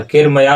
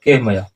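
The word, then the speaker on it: कैर्मया: और यहाँ पर नीचे बताते हैं केहमया सह, केरमया नहीं होगा, उच्चारण होगा केहमया।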